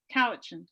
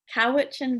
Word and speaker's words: Cowichan: trouble so everyone's gonna have to help me pronounce this howdy is it coaching valley couch cowichan valley okay you can tell i'm from ventura